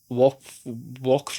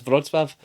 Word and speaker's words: Wrocław: is W, like it's, I can't remember how it's spelt, but I always say Wrocław, but all the guys are calling it like Walkfro or something like that. And I'm like, no, it's Wrocław.